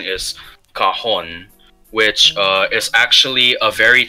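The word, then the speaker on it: cajón: Well, if you've ever heard of a cajon box, Cajun it's box. actually a very the correct pronunciation is cajon, which is actually a very cheap alternative to a drum.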